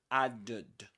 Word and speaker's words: added: And this is not pronounced as add. Added or add, something like that. This is added. Added.